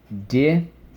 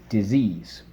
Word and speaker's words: disease: Disease. Disease. All right, we have, believe it or not, 5 things to mark up. So let's go. Second sound, underline the E. Second sound, underline the silent E twice.